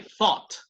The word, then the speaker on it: thought: Como lo pronuncian la Z los españoles, no nosotros, sino los españoles, ¿no? Ellos no dicen zapato, sino zapato, ¿no? Con la lengua tocando los dientes de arriba. Zapato. Entonces, así mismo la TH en inglés muchas veces. Thought.